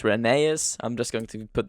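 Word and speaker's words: Rheneas: It's not Reneus. It's Reneus.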